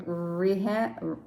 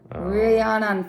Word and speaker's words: Rhiannon: It's called My Norwegian Holiday, starring Rihanna. No, not Rihanna. That's Rhiannon Fish and David S.